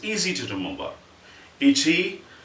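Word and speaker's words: いち: These are the sort of the basic syllables in Japanese. Ichi, you will say ichi scratch.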